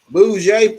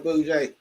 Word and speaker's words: Bougie: Bougie, thanks for coming. You see how I said it right, Bougie? You know, I usually say it bougie.